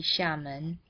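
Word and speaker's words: Xiamen: than official Mandarin dialects in Mandarin Amoy would be Shaman and hokin would be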